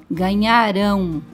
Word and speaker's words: ganharão: Ganharam, ganharão. Na palavra ganharam, nós percebemos que o nhá é a sílaba mais forte. Em ganharão, a mais forte é rão, porque ganharam está no passado e ganharão está no futuro.